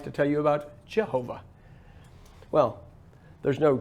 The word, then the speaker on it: Jehovah: the name of elohim it's jehovah okay what's the name it's always always no matter who argues with you this is how you pronounce it okay there's no you